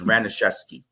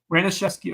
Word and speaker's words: Ranesi: correct you guys on how to say his last SC because his mom is a counselor at May River it's ranesi ranesi all right ranes y